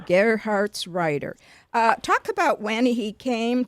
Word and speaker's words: Gerhartsreiter: How do you pronounce his last name? Gerhartsreiter. Gerhartsreiter.